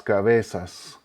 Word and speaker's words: cabeza: Plural would be las cabezas, las cabezas. Again, pay attention to the uniformity of the pronunciation of the vowels, the fact that the Z sounds like an S.